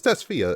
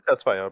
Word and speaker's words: Tesfaye: It's Tesfaye. I always get that Can't surname wrong, remember. right? Yeah. I think I Please. just assume Testfire because somebody else we kind of know this also usually Testfire thing.